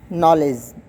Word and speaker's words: knowledge: And knowledge. K is again silent.